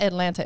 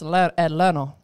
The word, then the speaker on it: Atlanta: You got to learn how to say it right. It's not Atlanta. It's Atlanta.